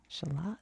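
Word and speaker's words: Shalott: Shalot is how you say that.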